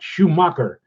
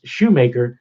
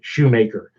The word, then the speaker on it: Shoemaker: you're watching right now it's not Schumacher that's how you pronounced it it's shoemaker and I want to